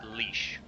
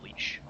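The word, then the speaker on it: Laois: original word is or it can also be pronounced leash lawyers the original irish is hoyish it's the uh transfer the uh translation to english is leash so oh god so you know that thing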